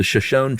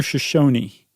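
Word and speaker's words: Shoshone: Is it Shashon or Shosonyi? Shosonyi. Is it Shashony? That's what I've always heard, but then again, I always heard it was Saka Ja, too. I know. I believe it's Shony.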